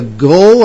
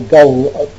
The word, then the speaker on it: gul: Now, we understand, Richard, that you journeyed to Central Asia last year to look for the gull. Am I pronouncing it correctly? Yes, G-U-L, gull.